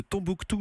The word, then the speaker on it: Tonbooktoo: Vous êtes cofondatrice de Tombouctou, ça s'écrit T-O-N-B-2-O-K-T-2-O.